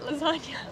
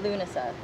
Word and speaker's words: Lughnasa: pronounce this dancing at lasagna dancing at dancing yeah the G is silent the seven G okay so dancing at Lughnasa perfect he did it